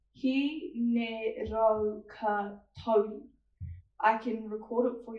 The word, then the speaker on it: Hineraukatauri: Miss, my name is pronounced Hineraukatauri. Hineraukatauri.